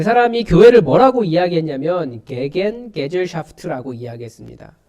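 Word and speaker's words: Gegengesellschaft: 그 사람이 교회를 뭐라고 이야기했냐면 게겐게젤샤프트라고 이야기했습니다. 조금 더 원어 발음에 가깝게 하면 기긴기즈샤프트.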